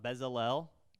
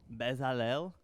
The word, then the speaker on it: Bezalel: you guys heard about bezel-l if that's how you say it he's a guy in the bible bezalel it's hebrew who knows but he's a master